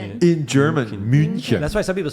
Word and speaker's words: München: München. In German, München. That's why some people spell it Munchen, something like that.